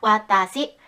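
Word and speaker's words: 私: 이 글자는 한자로 한 글자지만 이렇게 있습니다. 와따시, 나라는 뜻이죠. 와따시, 뭐야? 왜 한 글자인데 세 글자로 읽어?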